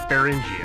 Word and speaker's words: Beringia: Yeah, so Bering they put an IA on the end, so I assume it's Beringia.